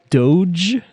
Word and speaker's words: doge: a hard g but dog like dog doge not like dojo yeah ge here we